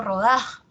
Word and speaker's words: rodaja: como ustedes han visto yo lo he pronunciado rodaja así no la mayor fuerza de voz está en da rodaja como decíamos ya